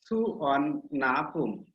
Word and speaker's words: Suvarnabhumi: The name Suvarnabhumi is pronounced as Suvarnabhumi.